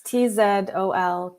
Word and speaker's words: Tzolkin: Zolkin, Tolkien? Zolkin. Zolkin. Zolkin. It's Tzolkin.